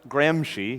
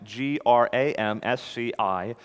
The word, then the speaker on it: Gramsci: Antonio Gramsci, pronounced Gramsci, he's Italian, Gramsci, Antonio Gramsci, and the shift to cultural Marxism.